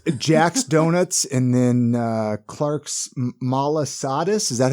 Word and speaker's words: malasada: Jack's Donuts, and then Clark's Malasadas.